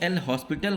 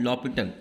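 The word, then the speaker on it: L'Hôpital: अब हम लॉपिटल rule, जिसको आप एल हॉस्पिटल कहते हैं, उसको लगा सकते हैं। ठीक है, इसका सही प्रोनाउंसिएशन क्या होता है, लॉपिटल, वो लिखा जाता है एल हॉस्पिटल।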